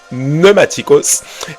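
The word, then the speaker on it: πνευματικός: mot pneumaticos ça s'écrit pneumaticos mais ça se prononce pneumaticos et ce mot pneumaticos signifie tout simplement les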